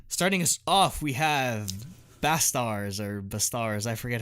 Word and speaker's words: BASTARZ: us off we have bass stars are the stars I forget how they pronounce esters yeah it's supposed to be like bastard but like it's a